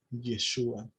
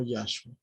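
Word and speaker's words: ישוע: Y eso se pronuncia Yeshua, no Yahshua.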